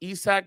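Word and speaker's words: Isak: It's definitely pronounced Isaac, but yeah, you're right.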